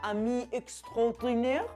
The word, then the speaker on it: amis extraordinaires: Pero si usamos esa palabra con otra palabra después que empieza por vocal, la cosa cambia. En singular sería amis extraordinaires y en plural sería amis extraordinaires.